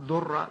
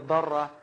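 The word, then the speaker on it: ضرة: Now, obviously, the word in Arabic for second wife is darra, sometimes mispronounced durra, but it's actually a darra.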